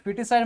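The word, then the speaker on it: foetus: कर देना right foeticide foeticide मतलब भ्रूण हत्या कर देना ठीक है फिटस ए इसको पढ़ते है फिटस बट स्पेलिंग देख लो एफ ओ ई टी यू एस फिटस right homicide ठीक है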